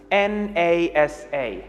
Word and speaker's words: NASA: nasa has four letters n a s a however i pronounced it as one word i said nasa i didn't say n-a-s-a now this tells you